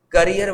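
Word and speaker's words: carrier: यह भी नहीं है करियर की दो स्पेलिंग है यहां पर देख र सी ए R double E आर है और सी A double R आईई आर ये पढ़ते हैं करियर इसको पढ़ते है कैरियर कैरियर means something that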